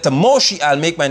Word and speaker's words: Moshe: His name is Moshe. Look at the top. Go up. Just see right. See that? Isn't it? Look at English language and here. King James and others say his name is Moses when it's right before you the pronunciation of